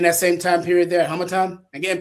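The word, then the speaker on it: Harmattan: Are we in that same time period there, Hamatan? Again, pronounce that for me. Hammer time.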